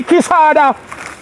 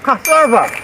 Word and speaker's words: cassava: How long time I no see Kisada? No this ain't Casada. A Kisada this. Kiss out me Spanish town all over. Name wrong name. It's cassava.